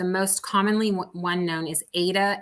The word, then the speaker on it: Aida: The most commonly one known is Aida. It's sometimes pronounced Aida. It's Aida, and that is more of a basic cross